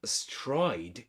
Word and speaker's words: astride: And then he connects because the word astride in pronunciation, in terms of pronunciation, it ends with a z sound. This one is not pronounced, the E, okay? We say astride.